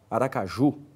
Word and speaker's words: Aracaju: oxítonas veja o exemplo Aracaju é uma oxítona a CBA tônica é o Ju governo é uma paroxítona